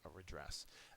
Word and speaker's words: redress: and a noun uh the second syllable is accented it means to set right or to remedy to say you're sorry that would be the verb form of redress the noun is relief